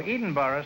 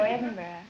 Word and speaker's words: Edinburgh: oh 23 huh where are you from evelyn evanston illinois no edinburgh scotland oh eden borough scotland man no edinburgh oh edinboro well then i'll